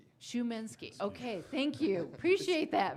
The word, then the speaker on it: Szumański: Szumański. It's S Z U M A N S K I. Szumański. Szumański. Okay, thank you. Appreciate that very much. It's Polish. Okay, Mr. Szumański.